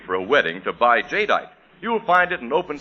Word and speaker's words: Jadeite: Anchor Hawking's amazing new kind of dinner wear, Jadeite. Now, it's spelled J A D E I T E.